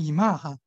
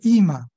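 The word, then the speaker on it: אמא: 和伊玛，都是重音在前面，它不是读成伊玛哈，看到没有？它是读伊玛、阿爸啊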